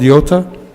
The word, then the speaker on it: iota: looks like an i it's called yota it could be pronounced like y or e in french actually this is